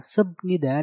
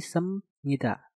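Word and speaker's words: 습니다: Nah, untuk kata subnida dan juga biopnida ini, cara pengucapannya adalah kalian harus merubah biop menjadi suara miem. Yang tadinya subnida menjadi semnida.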